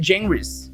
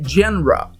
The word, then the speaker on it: genres: Cuz you read "djenrris," right? And you say "djenrwa," "djenrwa." Why is it written like that when it's pronounced "djenrwa?"